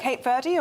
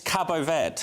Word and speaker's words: Cabo Verde: Cape Verde or Cape Verd? It's Cabo Verde. It's none of them.